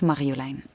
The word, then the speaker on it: Marjolein: And mostly people call me Maria here, or Madeleine, because it's difficult to pronounce. So, but it's Marjolein.